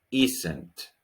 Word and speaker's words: isn't: isn't al doctor isn't practica la pronunciación isn't y centro es como si entre la s y la n tuviera una e instinto y santi sostenido